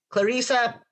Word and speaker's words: Clarissa: Let's all welcome to the Creative Talk, Clarissa.